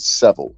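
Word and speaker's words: Savile: is Jimmy Seville Seville I said Seville but Seville that's how you pronounce it in English and Jimmy Seville right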